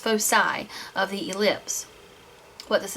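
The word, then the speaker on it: foci: is a focus and the plural of focus is pronounced fosi of the ellipse what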